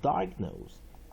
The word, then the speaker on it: diagnose: I the weak vowel I teeth silent E 就是不发音的 E positive 我们看第二个单词 diagnose diagnose 所以它这里有双重音 diagnose 我们看 origin 19世纪 back formation